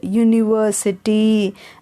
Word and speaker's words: university: Still for all we use a university because in university the first pronunciation is ya, Y sound, university.